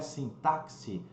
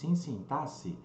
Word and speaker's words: sintaxe: a parte desse impasse que muita gente pronunciado aqui né não é sim táxi e sintaxe os termos da oração